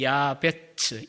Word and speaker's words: 야베스: 게다가 이 야베스 혹은 히브리어는 야베츠, 야아가 약간 길고요. 야베츠인데 발음이 이 야베스라고 하는 이름은 오체브라고 하는 단어, 우리 성가대 기도송으로 마지막에 부르시는 것 같은데, 부르신 것 같아요.